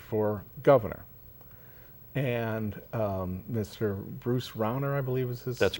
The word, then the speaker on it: Rauner: Bruce Rauner, I believe is That's correct. how his last name is pronounced.